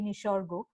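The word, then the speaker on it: Nisarga: That when just after this, I think 2 weeks on the heels of Amphan, we had Nishargo, right? I'm pronouncing it the Bengali way, Nishargo.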